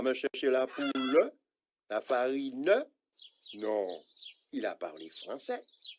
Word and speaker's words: farine: Donc, poule va perdre son E et farine aussi. Ce n'est pas farin, mais farine. En créole, toutes les lettres se prononcent. Il n'y a pas de lettre muette.